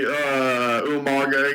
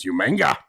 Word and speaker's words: Umaga: It was nice to see Umaga again. I think you're only giving it 5 out of 5 because of William Regal pronouncing Umaga's name as Umanga.